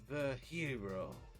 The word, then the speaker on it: Virgilio: It's pronounced Virhero.